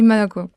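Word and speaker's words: молоко: It's written Moko and you say Maloco. You can say Moko and you will be understood.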